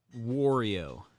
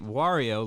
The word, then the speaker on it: Wario: You pronounce it instead of pronouncing it Wario, like M for like Mario, the M replaced on Mario with a W, so you say Wario.